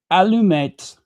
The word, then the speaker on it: allumette: It is pronounced allumette, allumette, allumette.